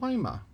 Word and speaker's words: Lima: a town in illinois called cairo c-a-i-r which is spelled just like cairo egypt in ohio there's a town wyma l-i-m-a just like lima beans that's named for